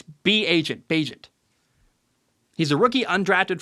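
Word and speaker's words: Bagent: know Tyson pageant at first I called him agent I didn't know how to say his name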